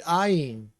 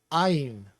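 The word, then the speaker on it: עין: The ayin uses the back of your throat, and maybe a little part of your tongue touches the roof of your mouth to get the N sound pronounced properly, but ayin.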